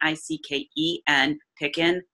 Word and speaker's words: Picken: IC ke and pickin rhymes with chicken I know I like